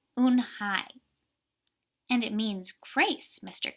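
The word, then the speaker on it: Unhei: Kim and turn to Joey she nodded slowly yes it's pronounced une hi and it means grace mr.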